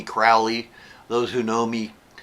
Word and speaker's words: Crowley: It's Crowley like holy. Yeah, that was the way he said it. He said something on the order of, those who wish to treat me foully call me Crowley.